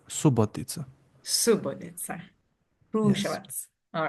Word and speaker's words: Subotica: Well, so the stress is on U, but Hmm. O can pick up a little bit. So it might Hmm. sound like it's on O, but it's Subotica. Hmm. Not Subotica, but Subotica.